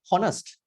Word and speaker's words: honest: when you see h-o-n-e-s-t honest you don't call honest it is honest it is silent right and all also h o n